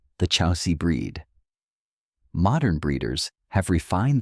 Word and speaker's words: Chausie: The Chausie, pronounced Chausie, is a breed with roots that stretch back thousands of years.